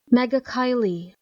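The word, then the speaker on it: Megachile: Mega Kylie.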